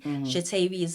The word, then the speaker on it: Shatavis: No, let's practice, shall we? Sha- ta- vis.